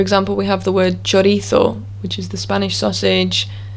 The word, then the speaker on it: chorizo: we have the word chorizo which is the spanish sausage quite common in england as well chorizo that's a ch we also have the